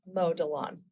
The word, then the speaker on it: Delaune: Yeah, I married into that name, and my husband always says, pronounce it like Mo Delaune, like you're mowing.